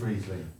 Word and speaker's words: Riesling: So you say Riesling. Is it Riesling or Riesling? Because German people say to me it's Riesling. It is Riesling. Is it? Okay, so I'll say Riesling.